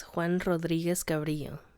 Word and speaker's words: Juan Rodriguez Cabrillo: It's Juan Rodriguez Cabrillo.